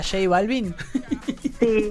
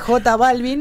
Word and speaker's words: J Balvin: No, él tenía que pronunciar, ¿viste, profe, conoces a J Balvin? Que es J Balvin, bueno, la J se pronuncia en inglés J. Entonces le estaba explicando eso a Juan y decía J Balvin.